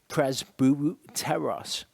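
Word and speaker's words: πρεσβύτερος: We look at the word presbyteros or presbyteros, as it would be pronounced.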